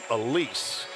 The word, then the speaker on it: Elise: It's going to look like Alice, but she's from Belgium and pronounces her name Elise.